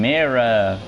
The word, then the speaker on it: Mera: Hey guys, welcome back to LEGO DC Supervillains Custom Build, and today we're doing Mera. That's how you pronounce the name, from Aquaman.